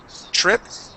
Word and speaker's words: trip: it it's it only the T only sounds like a CH when there is an r that follows it okay okay or in